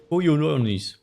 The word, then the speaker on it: Kyononis: Kyononis shrine. And that's exactly how you pronounce it. Kyononis.